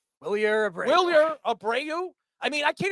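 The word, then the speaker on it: Wilyer: Willer Abrau. I mean, I can't even pronounce his name because it's spelled it should be spelled Willer, BUT IT'S SPELLED W I L Y E R.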